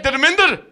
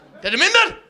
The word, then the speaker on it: Dharmander: Because they'll talk to me and they'll be like, hey, Dharmander, because they know how to say it, right? Dharmander, you lucky bastard.